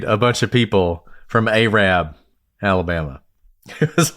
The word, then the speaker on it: Arab: Which is spelled Arab. But Yeah, it's pronounced Arab.